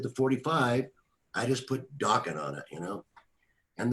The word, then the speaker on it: Dokken: this and then uh let's just call it dawkin because my name is unusual and it rhymes with rockin but i i had